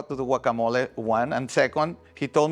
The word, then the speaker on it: guacamole: Anytime we've had a video where we need to use a salsa or a pico de gallo or a guacamole, and I know I'm not saying it right, you're going to say it the right way.